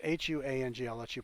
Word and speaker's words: Huang: Commerce Department staffer worked closely with Ron Brown and John Wang. Sorry, I mispronounced that. John Wang. Well, it's Huang.